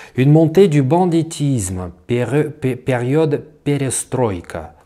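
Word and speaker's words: перестройка: Une montée du banditisme, période perestroïka, ou perestroïka comme vous dites en français, ça m'énerve cette espèce de tendance de toujours mettre l'accent sur la dernière syllabe dans tous les mots étrangers.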